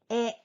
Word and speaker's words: え: The fourth sound is E, like E in the word egg. It is not pronounced E like E in the word even. This hiragana is pronounced E.